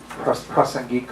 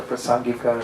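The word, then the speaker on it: prāsaṅgika: This is kind of talking about this consequence, or prasangika, or prasangika, sometimes pronounced.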